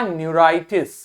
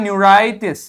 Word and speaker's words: न्यूराइटिस: इसी प्रकार न्यूरॉन्स यानी नर्व्स में आपके इन्फ्लेमेशन यदि होता है तो वो हो जाएगा आपका न्यूराइटिस। ठीक, तो आप प्रोनाउंसिएशन किताब में देखोगे तो लिखा हुआ है न्यूराइटिस, न्यूराइटिस, न्यूराइटिस, न्यूराइटिस।